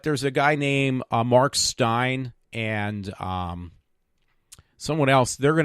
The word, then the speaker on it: Steyn: And Stein is Steyn. It's kind of weird how it's spelled.